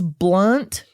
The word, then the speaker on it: Blount: So there is to be a pride festival in Blount County, Tennessee. Wait, how do you spell that? It's Blount. Okay. So maybe it's blunt. I like Blount. Blount. I guess it's more Blount. It doesn't matter.